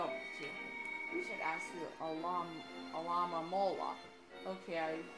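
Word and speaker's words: Alomomola: We should ask the Alama Mola. Okay, I pronounced it right that last time.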